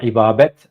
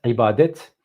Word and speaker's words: îbadet: Ha, min digo îbabet, îbadet. Welhasil min şaş telaffuz dikir.